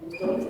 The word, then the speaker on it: Tóth: Tóth is the pronunciation. Yeah. From Hungary. Hello everyone and welcome, and I'm happy that you stayed for the second day as well. My name is Tóth.